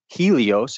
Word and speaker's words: Helios: You could say it's heli or Eli, like elites, like Helios, because the Greeks don't pronounce that H. It's Helios. It's hell.